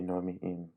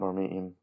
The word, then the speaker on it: norm'iim: Another thing interesting about normiim is its interesting pronunciation of the glottal stop on normiim, but that's a little bit too in-depth for this already really long video.